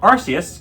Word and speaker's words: Arceus: Arceus, the pronunciation was used officially, so shut up.